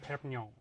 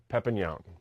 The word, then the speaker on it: Perpignon: Hi, my name is Perpignon. Perpignon.